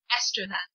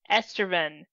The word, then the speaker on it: Estraven: Estraven. Estreven. It sounds so much like uh estrogen.